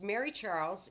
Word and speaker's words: Mary-Charles: of October 22nd 1966 mary-charles yes it is pronounced as if it was one name picked me up at